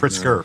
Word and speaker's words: Pritzker: She pronounced it wrong. It's during these Pritzker, unprecedented not times. Pritzker. Pritzker.